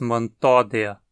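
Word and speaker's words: Mantodea: Aldeia como manto a a penúltima sílaba é de de novo ela não terminei com sua anti não tem ditongo e nem vogal longa então não pode ser tônica o acento cai nosso sílaba tó dizemos Montoya o mesmo vale para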